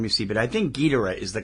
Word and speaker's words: Ghidorah: Well, that's like Gamera or Gamera, depending on which film you see, but I think Ghidorah is the correct pronunciation.